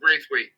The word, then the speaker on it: Braithwaite: Is that pronounced? Braithwaite. Okay, I got to give him a nickname.